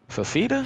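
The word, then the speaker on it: Fifita: Fafita?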